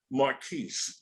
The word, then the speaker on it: Marquis: right yes yes yes and I have Gail Marquis correct correct that's right hey all right it's good to pronounce it right but I know some people